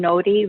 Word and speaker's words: Nori: Again, Nori, N-O-R-I, but you pronounce the R like a D.